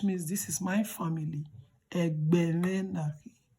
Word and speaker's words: Ęgbę: Please don't forget, anywhere you see diacritic, remember to just change letter E pronunciation to E. And then the one without diacritic, you say E. With that, you are able to pronounce perfectly.